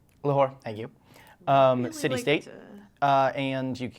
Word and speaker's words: Lahore: So the Nihang are a unique unit from the Lahore, if I'm pronouncing that right. Lahore. Lahore, thank you.